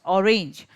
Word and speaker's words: orange: Okay, like for example, if I pronounce orange, so I'm giving more emphasis on the letter O rather than range.